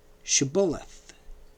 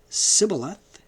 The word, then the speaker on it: shibboleth: at the Jordan passage were forced to say the word Shibboleth, because the Gileadites knew they could not pronounce the sibilant sh. Hence, when they said Sibboleth, they were identified and slaughtered.